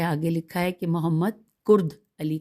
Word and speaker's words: کرد علی: لکھا ہے کہ محمد کرد علی، کاف سے ہے کرد علی۔ نیکسٹ ہے نفخ الطیب،